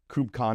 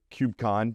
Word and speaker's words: KubeCon: But one of the things that maybe folks don't know Back Blaze is as much as uh KubeCon or CubeCon depending on how you want to pronounce it.